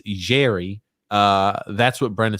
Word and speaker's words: Jarry: that's what mike i'm saying apparently tj it's jerry uh that's what brandon says i thought it was always pronounced yari that's how it's spelled yara i knew you